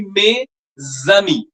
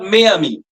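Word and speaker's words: mes amis: The S will be pronounced like a zed. Like may will be pronounced as may z will be tz. Like my friends plural. It will be may zami not mayami.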